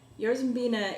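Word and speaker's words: jarzębina: to yards and bina yours veena is an English pronunciation of the poles word for Roman as in Rowan Barry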